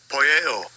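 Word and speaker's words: ποιέω: Poieo. All right. That's the pronunciation in the Greek for the word causeth, and it says to make.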